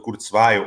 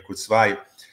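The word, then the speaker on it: Kurzweil: sobretudo aquela eh defendida por Kurtsv há muito tempo ou Kurtsway, a melhor pronúncia para mim é Kurzv, sobre a era da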